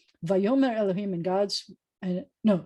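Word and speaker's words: ויאמר: But the fact that I'm going to tell you that because it's not a v like this, it's a va, and because where the accent is, it changes it to be future tense. Vayomer Elohim, and God's, and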